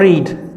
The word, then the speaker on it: read: हम पढ़ते हैं तो हम उसको बोलते हैं रीड, READ, रीड, रीड। और इसका थर्ड भी, इसका सेकंड फॉर्म इसकी यू कैन से स्पेलिंग इसके सेम होते हैं।